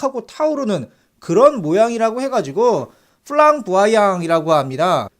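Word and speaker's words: flamboyant: 타오르는 그런 모양이라고 해가지고 플랑부아양이라고 합니다. 제가 이거 프랑스어 발음을 한번 찾아서 들어보니까 플랑부영이라고 이렇게 약간 코맹맹이 소리가 나더라고요.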